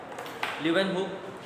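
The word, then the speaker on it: Leeuwenhoek: इस बंदे ने, ये इसका ल्यूवेन है, ये आप स्पेलिंग इसके नाम के देख लीजिएगा, ल्यूवेनहुक।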